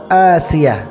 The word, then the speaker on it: আসিয়া: হ্যাঁ, আপনার ধারণাটি অবশ্যই সঠিক, কিন্তু ওই নামটি লেখা ও উচ্চারণে আইনের পরিবর্তে হামজা তথা আসিয়া, যার অর্থ শান্তি স্থাপনকারী। সুতরাং আসিয়া নামের প্রথম অক্ষর আইন হলে নিষিদ্ধ, অন্যথায় নয়।